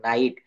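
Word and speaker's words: night: হচ্ছে আই দেখ দেখেন এখানে এন আই জি এইচ টি এখানে নাজিট বা নিজিট না বলে এখানে ওই জি এর জি এর উচ্চারণ ওখানে আই হয়ে যাচ্ছে নাইট এখানে দেখেন নাইট বানান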